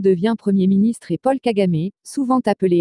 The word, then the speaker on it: Kagame: environs de syrte 5 paul kagamé paul kagame prononcé pl kagame né le 23 octobre 1957 à tambour et